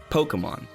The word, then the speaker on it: Pokémon: I know there's a little accent on the E, which is why I'm sure a lot of people put an emphasis there, but if you pay attention to actual Pokemon things, you will see that it is pronounced Pokemon.